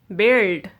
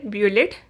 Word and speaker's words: build: you don't ever say be lit no you don't ever say bullet you pronounce you don't pronounce you you will be silent you pronounce this word is build build laugh guess guitar